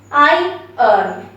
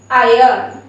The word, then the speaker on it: iron: you hear me okay i earn i earn iron actually heard it right it's like i um i uh you are earning it's just like that okay so think like